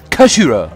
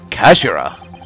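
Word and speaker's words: 頭: end of the hilt it's written as head in japanese but it's pronounced as kashira i believe kashira so mr asaki's words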